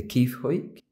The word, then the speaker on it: Kiefhoek: the uh one of the i correct my pronunciation the key foic yeah so this is the key for social